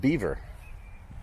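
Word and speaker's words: Belvoir: BVO that would be the prop pronunciation they pronounce it Beaver so there's all kinds there's always like belois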